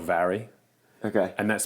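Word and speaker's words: Mhairi: dad's name okay and my sister she's called vary okay and that's spelled m-h okay a-i-r-i and it means mary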